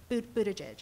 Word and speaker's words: Buttigieg: And it's interesting, people talk about them, the bees, you know, Bernie, Biden, Beto, and to some extent, Buttigieg, is that how you say it?